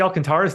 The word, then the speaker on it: Alcantara: pronunciation Alcantara yeah no those final two syllables aren't one syllable watch what Marlins get